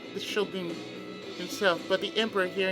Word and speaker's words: shogun: The formal head of the government was not the shogun himself, but the emperor here in Kyoto. Yeah, most people say shogun, but it's pronounced shogun. So what I'm saying is grammatically correct. Shogun and not shogun.